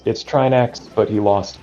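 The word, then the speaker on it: Trinexx: very clean Grenix.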